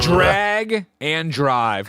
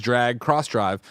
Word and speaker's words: Drag x Drive: new Nintendo game drum roll please Mike it's drag and drive now you might look at it online and say that's drag X drive so clearly it's drag Cross Drive but Nintendo goes out of their way to